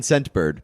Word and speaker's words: Scentbird: Scentbird. What's it called? Scentbird. Scentbird? Scentbird. It actually says in the read here, emphasize the T in Scentbird because I was gonna say, the name is difficult to hear.